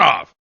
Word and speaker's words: of: very little else there occasionally i make the v sound as in the word of o f of but that's about